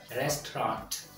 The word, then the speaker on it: restaurant: months two slivers okay next restaurant restaurant restaurant two syllables we have arranged dinner